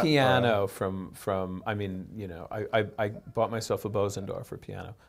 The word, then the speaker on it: Bösendorfer: I bought a piano I bought myself a Bösendorfer piano. I guess it's actually pronounced Bösendorfer.